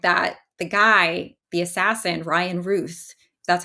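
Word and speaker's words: Ryan Routh: was just reading that the guy the Assassin Ryan Ruth that's how you say his name you know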